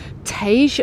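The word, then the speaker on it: Teix: that was once the hotel Tage um assuming that's how it's pronounced it's spelled te iix this is currently under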